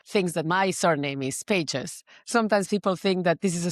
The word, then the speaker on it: Pagès: And Pages, not Pages. It has an accent on the E, which I can never type because I don't have a keyboard to type Catalan accents.